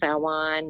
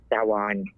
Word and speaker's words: Samhain: Happy Samhain, Samhain, however you want to pronounce it. I know the Muggles call it Samhain, so I figured I'd say it that way. But it's actually pronounced Samhain.